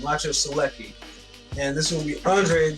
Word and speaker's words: Maciej Sulecki: I always forget the pronunciation. Maciej Sulecki.